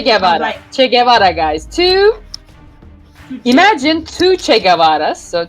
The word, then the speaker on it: Tugce: Tugce. Imagine two Che Guevaras. So Tugce.